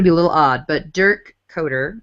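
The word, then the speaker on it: Dirk Koetter: Coaching-wise, I find this one to be a little odd, but Dirk Coder, that's how you say his name.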